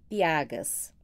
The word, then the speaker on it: Piaga: Os mesmos a que nos primeiros cantos dei o nome de piagas. Eis o que naquela obra escrevi a este respeito. Piagé, Piache, Piaie ou Piaga, que mais se conforma à nossa pronúncia.